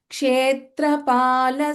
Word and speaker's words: क्षेत्रपाल: Here, Pa, this is Pa. Kshetrapala Samarchita.